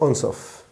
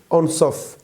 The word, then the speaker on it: Ansoff: de l'année dernière igor en sauf mathématicien d'origine russe émigré aux états unis la prononciation de son nom en surf ou anne sauf cela dépend de la langue utilisée il a publié cette